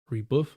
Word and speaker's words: rebuff: Rebuff, like buff, rebuff, rebuffing.